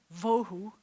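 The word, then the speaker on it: ובהו: Vohu, you just expelled all of your air again.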